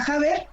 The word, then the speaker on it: Haber: Se pronuncia Javer, pero toda mi vida me han hecho muchas bromas telefónicas de a ver. Pero sí es Javer en principio.